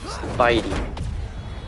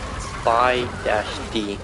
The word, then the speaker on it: Spidey: I mean like Spidey. The word Spidey. not not Spy-D like they did in the comics.